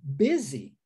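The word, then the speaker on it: busy: como ih né a gente a gente fala bezzy Olha que interessante Pezzi é muito diferente a pronúncia nós temos um s com a pronúncia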